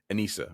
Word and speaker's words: Anissa: Her name is Anissa, right? As she corrected the guy to say. But if you see the way it's spelled, it could go either way. It could go Anisha or Anissa, or I mean, like,